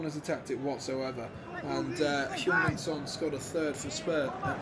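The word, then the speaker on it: Son Heung-min: And Heung-min Son scored a third for Spurs.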